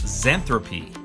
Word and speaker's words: Xanthippe: Dave moves on, going up against XANTHIPPE. Is that how you pronounce her name? Actually, it's pronounced XANTHIPPE.